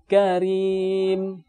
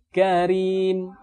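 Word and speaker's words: كريم: yang dibaca dengan tipis yang pertama yaitu huruf ra yang berharakat kasrah atau kiswah lain yaitu tanwin kisrah contohnya misalnya Karim Karim ketika pengucapan huruf ra dibaca dengan tipis Karim ataupun centang lain minhairin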